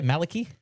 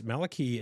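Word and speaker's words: Malakey: Malaki. Malaki. Malik. Malak. M A L A K E Y is probably the best way to pronounce it.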